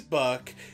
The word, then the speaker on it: Buck: His name is Buck. It rhymes with Chuck.